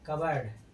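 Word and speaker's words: cupboard: कवर्ड। कवर्ड माना क्या होता है? अलमारी। पी के बाद क्या आया है? बी। इसलिए यहां पर अपना पी क्या रहेगा? साइलेंट रहेगा।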